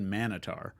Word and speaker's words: Minotaur: where we saw specifically how Americans say Minotaur and how British people say Minotaur, which made me think that first she said Manitar, and I was like, is this some other kind of Minotaur?